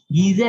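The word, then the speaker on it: Geiger: Gieser and Marsden, okay, वो spelling अलग है, प्रोनाउंसिएशन अलग है, जर्मन साइंटिस्ट है गीजर एंड मार्सडेन।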